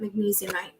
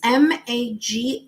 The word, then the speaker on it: Magnesite: I think is how you pronounce that, magnesiumite. It's Magnesite for those of you who are interested in learning more about that crystal.